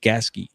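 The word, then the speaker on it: Gasquet: You spell it like gasket. Pronounced Gaski.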